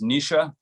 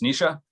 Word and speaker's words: Naoise: So my name is nee'sha, Naoise. It's one of those Irish Gaelic names, pronounced nee'sha, and then, my second name.